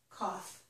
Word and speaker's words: cough: This time, however, the GH is not silent. It makes a F or F sound. Here, the GH was silent. So here, this word is although. These letters make an O sound. Here, the OU makes an ah sound, and the GH make a F, okay?